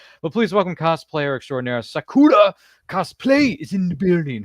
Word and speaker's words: Sakura: Uh yeah, Sakura is fine. Sorry. My friends call me different things because how to pronounce it?